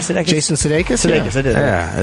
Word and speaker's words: Sudeikis: Jason Sudeikis?